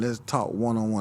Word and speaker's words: Let's Talk 101: Let's talk oneonone. That's how you say it, right? Yes, sir.